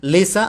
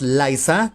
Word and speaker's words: Lisa: Lisa, I am hoping, and I am assuming that the pronunciation of this name is Lisa and not Liza, that's for sure.